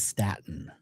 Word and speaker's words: Stayton: If you write out my name and phonetically speak it out, it is not Staten, it's Staten. You have to spell it Stayton.